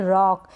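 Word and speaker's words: rock: यह है र रक यहां पर ओ को अ पढ़ा जा रहा है रॉक इसको रोकना पढे रॉक मतलब चट्टान या पत्थर इसको हम शोक नहीं पढ़ेंगे रोक शोक लोक मोक गलत उच्चारण हो जाएगा गलत प्रोनंसिएशन हो जाएगा इसको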